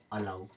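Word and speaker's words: allow: यहां पर भी है लेकिन इसको भी हम आ की तरह पढ़ेंगे और ये क्या हो जाएगा अलाउ क्या हो जाएगा अलाउ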